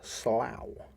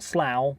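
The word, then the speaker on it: Sluagh: kidnap people similar are the slough s l u a g h right so not Slough but Slough who would come from the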